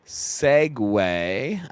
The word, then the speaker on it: segue: week, speaking of injuries, this is a good segue. Um that is uh s cg gu is how that's spelled. S e c gu if anybody was wondering. That's how it's spelled.